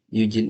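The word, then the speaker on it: 友人: Yujin ini teman dari kanji tomonya Tomodachi ya. Tomodachi. Nih, kalau pakai hito bacanya Yujin.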